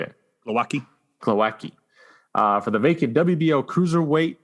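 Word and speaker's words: Głowacki: Glowacki.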